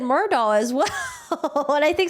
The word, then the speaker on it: Murdaugh: Judge Newman also said Murdaugh as well. And I think sometimes he would like correct himself, say Murdick. But yeah, I pronounce his name elliptical Murdaugh.